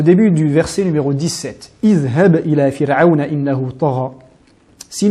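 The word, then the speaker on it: اذهب: À ce moment-là, on doit dire بِالْوَادِ الْمُقَدَّسِ طُوًى إِذْهَبْ طُوًى إِذْهَبْ إِلَى فِرْعَوْنَ بِالْمُقَدَّسِ طُوًى إِذْهَبْ إِلَى فِرْعَوْنَ.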